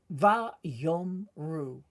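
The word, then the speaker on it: ויאמרו: And so we begin by reading, but first you'll notice that the Aleph in each one of these is in white, which tells us we do not pronounce it. It's basically called a silent letter, along with ayin, as you'll see.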